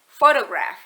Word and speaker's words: photograph: Kemudian ketika ditambahkan kata graph di belakang kata foto, pengucapannya akan menjadi photograph.